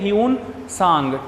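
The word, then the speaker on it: Hiuen Tsang: रखना है ठीक है ह्यून सांग टी एस ए एन जी T silent रहेगा ठीक है चाइनीज नेम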